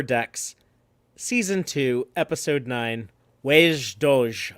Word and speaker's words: wej Duj: season two episode nine wage doge i think is how you say that in klingon but i could be way off uh written by katherine